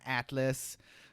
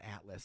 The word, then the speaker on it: Atla: learn about Limlia and Atlas. What do they call him? It's not Atlas. What do they call him? I forget the dude at the way in. Yeah, they say his name. Atla. Atla.